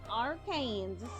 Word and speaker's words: Arkansas: Arkansaw. It's pronounced Arkansas.